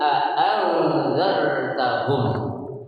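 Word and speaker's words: أأنذرتهم: Nah di sini dibacanya a'anzartahum. Ya, berarti dengan menggunakan dua apaan tuh? Dua huruf hamzah. Hamzah. A'anzartahum. Itu dengan jelas tuh. Ya, itu yang tertulis dalam mushafnya itu dengan menggunakan dua hamzah a'anzartahum.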